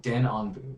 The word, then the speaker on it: Denonbu: this set until we finally get to the Denonbu. Is that how I pronounce it? Let me take a look. It's in a card. It's on a card. Denonbu.